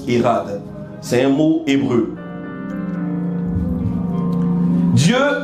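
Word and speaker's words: echad: bien le mot hade ça scit E C H a d ça se prononce hade c'est un mot hébreu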